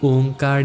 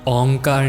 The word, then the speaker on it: ओंकार: शास्त्रों में भी इसे ओंकार लिखा गया है, ओंकार नहीं।